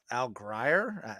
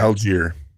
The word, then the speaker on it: Algier: I thought Al Grier, is that how you say it? Algier. Is it Algier? Okay, that's what it was.